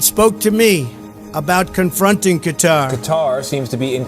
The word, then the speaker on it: Qatar: Have you heard of Qatar, or Qatar as Americans say?